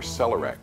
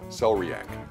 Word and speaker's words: celeriac: It's called a celery root, or celerac, celeriac. There are several ways to pronounce it, but it's all delicious.